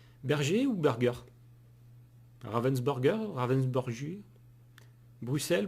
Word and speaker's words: Bruxelles: ou burger ravensburger ravensburger bruxelles bruxelles Bon, le terme exact c'est Bruxelles, mais il y en a beaucoup qui prononcent Bruxelles tout comme oxer.